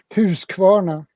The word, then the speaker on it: Husqvarna: Husqvarna.